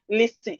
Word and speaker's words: listen: Okay, so when you want to write this word, let the T be showing. But when you want to pronounce it, you will not pronounce the T.